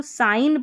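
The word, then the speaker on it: sign: तो यहाँ पर इसको साइन पढ़ते हैं, यानी कि ये जी साइलेंट है।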